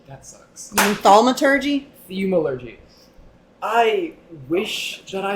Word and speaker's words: thaumaturgy: I do not know Theumology. That sucks. You mean thaumaturgy?